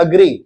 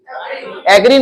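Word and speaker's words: agree: अगर किसी चीज का सहमति होना हो, सहमत होना, क्या होता है, सहमत होना, ये वर्ब है, इसको कहते हैं अग्री, एग्री नहीं अग्री, और प्रोनाउंस करें उसको अग्री।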